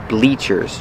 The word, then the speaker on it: bleachers: don't call these benches we call them bleachers that's right bleachers using a long e sound like green beans bleachers these are called